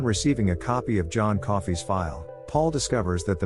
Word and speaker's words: Coffey: The prisoner is named John Coffey, which means like the drink, only not spelled the same.